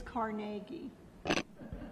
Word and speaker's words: Carnegie: And it is Carnegie. No, I didn't say anything. I know. But so many people mispronounce Carnegie, but it is Carnegie.